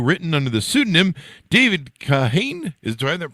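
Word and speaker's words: Kahane: for National Review written under the pseudonym David kahain is do I have that pronounced correctly yes there you go we're developed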